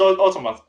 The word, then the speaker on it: Automata: Near Automata, not I can never fucking pronounce it. Automata. Automata, whatever. It's That just like Automata for the game. people. It's Automata.